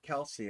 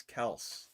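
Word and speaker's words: Kelce: uh celebrity softball game it's not Kelsey it's Kel He said everybody pronounces it wrong and I'm like yeah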